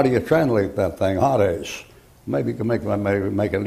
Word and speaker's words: Hades: Down here you have in Greek you have this, Hades, look like that. When you take that and transliterate it, you get Hades. And that's a long A in there, Hades, like that.